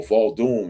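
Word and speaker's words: vodou: And then when you talk to people, speaking to people about voodoo or Voldoom, as it's properly pronounced, that's what they say.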